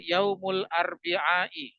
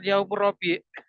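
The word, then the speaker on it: يوم الأربعاء: yaumulnain hari Selasa yaumutulat hari Rabu Yaumul arbiai ini agak susah Yang hari Rabu ini ya bukan yaumur Rabi tidak ada yaumurabi Kebanyakan orang itu sekenanya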